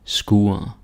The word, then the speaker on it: skur: And there is again, I think there's an R, but you don't hear me say mur or skur or like mur, skur, lur. It doesn't happen, right?